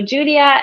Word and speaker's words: Giulia: the most popular and it's just italian spelling but as soon as i moved abroad i realized that a lot of people uh were struggling with the pronunciation but that's exactly how we pronounce it so julia and and that's how